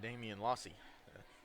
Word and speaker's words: Damian Lossy: Excuse me, the correct pronunciation is Damian Lossy, senior quarterback and safety So Lossy.